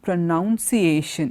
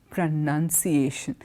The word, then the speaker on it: pronunciation: But the last form, it's not pronunciation, it is pronunciation. When you use to, form we tend to say pronunciation, and that is wrong.